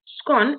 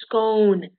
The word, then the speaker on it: scone: be pronounced one way claiming the original scottish is with a long o as in toast so instead of saying scone you can say scone so um they said